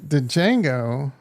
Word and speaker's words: Django: Well, the Django in the house. The D is silent, bro.